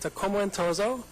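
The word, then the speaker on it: Akoma Ntoso: the with the pronunciation it's pronounced a coma in like in and out too with a z like in zebra so a comoso in my experience it's best said with an Italian accent can you give us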